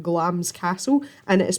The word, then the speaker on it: Glamis: from where I live is a castle called glam's castle and it is pronounced at glams not to Glamis and there are loads and loads of ghost